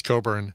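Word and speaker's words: Cockburn: Buu r n but don't pronounce that uh like the way it's it's written uh oh oh yeah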